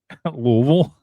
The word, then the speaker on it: Louisville: By the way, you relish the opportunity to pronounce that right. Louisville.